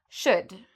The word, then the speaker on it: should: So afterwards, you don't need to worry about this L. It's silent. So we say would, should, could.